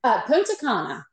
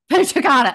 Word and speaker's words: Punta Cana: Am I pronouncing that correctly? Punta Cana. Punta Cana.